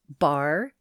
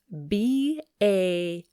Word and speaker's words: Barre: with a bar, and it's pronounced bar, just like the bar is a bar, and it's spelled B-A-R-R-E, bar.